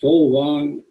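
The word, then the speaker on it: Fåvang: This FAVANG is pronounced Folvang.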